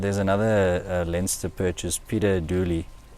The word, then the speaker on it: Dooley: In other purchases, and there's another Leinster purchase, Peter Dooley. Peter O'Dooley. Not O'Dooley, just Dooley. Peter Dooley. Don't No. just add the O just because it's an Irish name.